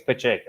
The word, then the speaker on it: Pacheco: gotta be pacheco uh there's a town nearby where i live called pacheco so i i think it's pachiko i'm pretty confident with that did you